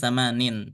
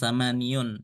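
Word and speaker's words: ثمان: dia Tanpa Ta marbutah jadi samanin bukan samaniun ya walaupun nanti ketika ada yang dibilangnya nanti ya-nya muncul tapi kalau tidak ada sama sekali maka dibacanya samanin seperti ini kemudian tis'un Kemudian asrun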